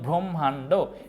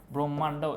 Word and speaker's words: ব্রহ্মাণ্ড: কিন্তু উচ্চারণ থাকে দেখছো ব্রহ্মান্ড এই জায়গায় একটু লিখি যাতে তোমরা ব্রহ্মান্ড ব্রহ্মান্ড এ জায়গায় কিন্তু উচ্চারণটা এরকম হবে উচ্চারণটা হবে ম প্লাস হ এর সমন্বয় এন্ড দেখো পার্থক্য এ